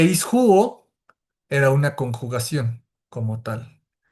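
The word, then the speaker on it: ἰσχύω: Y ya tenemos nuestra palabra original, la raíz de nuestra palabra que era ishuo. Esta es el origen, esto es lo que, así es como se pronuncia y esto es lo que significa.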